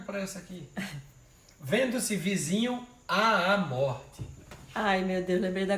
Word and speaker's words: morte: Qual é a sílaba tônica de morte? Morte. Então é mor.